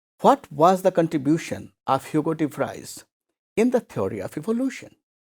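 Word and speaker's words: Hugo de Vries: was the contribution of hugotive fries in the theory of evolution both are pronounced you go debris very simply you can say so his theory is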